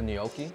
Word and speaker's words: gnocchi: It's the G is silent.